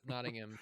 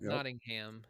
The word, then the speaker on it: Nottingham: our next card is Nottingham Prince John's castle and just so everybody's aware that is the proper way to pronounce that I'm pretty sure jonty would agree with me but yeah Nottingham not notingham it's not Nottingham no